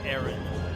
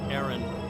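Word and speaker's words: Aran: name i don't know it's probably aaron but i'm gonna say iran like the entire game to annoy everybody okay because that's how most people would pronounce it and i might just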